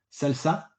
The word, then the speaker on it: SLSA: est il est tiré du fameux framework Google salsa SLSA ça se prononce ça qui essaye de modéliser justement cette